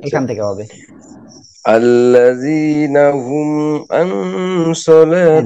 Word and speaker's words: عن: عن দেখেন عن একটা হলো কি হামজা নুন জবর আং, হ্যাঁ, আর একটা হলো আইন নুন জবর আং, ঠিক আছে? এখন এই জায়গায় আইনটা কি গলাটা চেপে উচ্চারণ করতে হবে, আং আং আং عن আইন।